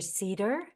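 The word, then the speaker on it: Sieder: or my name an Cedar sounds like the tree but it's spelled s i e d ER and yeah just Reach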